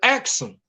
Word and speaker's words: Aksum: If you go to Ethiopia to this day, the most ancient and renowned kingdom is known as Aksum, or some pronounce it Axum.